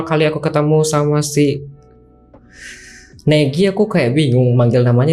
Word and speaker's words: Negi: Jadi pas dibilang ternyata di bio-nya disuruh panggil namanya itu Negi, aku baru sadar ternyata panggilnya Negi. Kemudian aku pikir selama ini Nge-Q itu artinya nge-kiwi. Ya betul, aku bilang begitu, ternyata bukan, ternyata bacanya Negi dan Ngek.